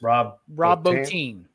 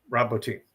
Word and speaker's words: Rob Bottin: was that, and I don't know how to pronounce his last name, even though you've already said it twice. Rob Bottin. Rob Bottin.